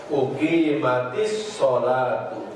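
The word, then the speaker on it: أقيمت الصلاة: Idza uqimat asalnya idza uqimat dengan as-sholatu. Uqimat dengan as-sholatu karena diwasolkan, jadi bacaannya uqimatis sholatu. Tapi kalau bacanya dipisahkan, idza uqimat terus as-sholatu.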